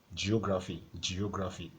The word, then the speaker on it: geography: So you have geography, So take note of that geo part. There are 2 syllables there. So you have geo. So that's 2 syllables. Geography. So at the end of the day, there are 4 syllables.